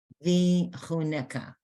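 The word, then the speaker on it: וִיחֻנֶּךָּ: Ka at the end. Ka. That has a dot there, it's pronounced Ka. v'chuneka.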